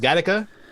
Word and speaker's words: Gattaca: gothic is what has is it garaka or gataka or gothica i mean once you um it's really it's pronounced gadaka but it's it's not